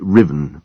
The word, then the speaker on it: Ruthven: "My name is pronounced Riven, madam. Riven, as his lordship has so often told you."